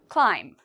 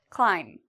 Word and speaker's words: climb: Climb. Is there something in here we don't pronounce? Climb. If you said B, we do not pronounce the B, you are correct.